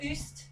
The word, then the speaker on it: Uist: I would have called it Uist, you see. And again, that's my lack of experience of Scottish pronunciation.